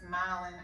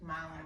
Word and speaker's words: Malin: Our housekeeper, who's been amazing, her name is Malin. I could be pronouncing that incorrectly, but I just remembered in my head it rhymed with Dallin because Malin was Dallin.